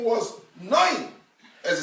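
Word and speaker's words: נון: It comes out that Yeshua's name is really Yeshua ben, if it's spelled with a segel Noin. His father's name was not Nun, was Noin.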